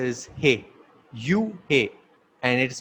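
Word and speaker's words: איש: So the first letter is U, and the second letter is He. You, He, and it is pronounced as Yah. Now, for man, in Hebrew, man is pronounced as Ish, and there are three letters.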